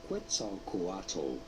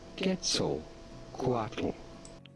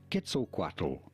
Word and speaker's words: Quetzalcoatl: YouTube say it as Quetzalcoatl, but that's completely wrong. The nearest pronunciation you can get it to the natural Nahuatl pronunciation would be not Quet at the beginning, but rather Ket. Quetzalcoatl. Quetzalcoatl.